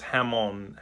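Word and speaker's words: jamón: Or it's hamon. Hamon. That's how you pronounce the J.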